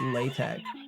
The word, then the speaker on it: LaTeX: By the way, it's pronounced LaTeX. It's weird. They should have used a character that's pronounced like a K.